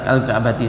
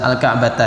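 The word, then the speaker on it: الكعبة: Tadi bacanya al-ka'bati, salah, al-ka'bata ya. Yang benar al-ka'bata.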